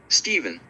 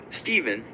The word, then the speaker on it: Stephen: Stephen, and the older pronunciation of nephew, still maintained, were said to be the only cases where English ph isn't pronounced as /f/.